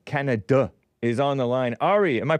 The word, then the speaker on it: Ari: Ari in uh Canada is on the line Ari am I pronouncing your name correctly yes you are